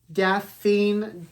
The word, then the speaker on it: Daphne: I'm going to commit I believe it's pronounced Daffin Dale this book is actually